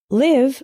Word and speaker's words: live: is live and live live with the same I as in sit means to reside for